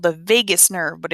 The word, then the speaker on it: vagus: And it's called the vagus nerve, but it is not spelled like the city, so be careful with that.